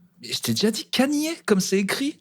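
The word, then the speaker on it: Kanye: tuer je peux tuer des gens qui disent Kenny West c'est ouais tu dis comment je dis comme ça se dit en fait mais comment ça se dit ben comment ça s'écrit Canier Canier il s'appelle Canier en fait mais SAF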